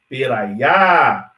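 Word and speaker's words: περαία: O acento está no final, na última sílaba. Peraia. Então, proston peraia, porque eu estou respeitando onde está o acento.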